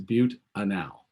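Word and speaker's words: butanal: mute a now and it's a butte a now not the other way to pronounce it by the way anyway so if we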